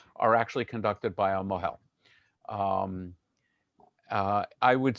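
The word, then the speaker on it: mohel: the uh the circumcision is called a Mel in yish pronunciation Mo you may have heard that pronunciation more than Mel um and uh he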